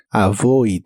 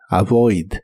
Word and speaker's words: avoid: de inglés es avoid se pronuncia como se escribe con la v labio dental y vibrante avoid avoid y lo puedes usar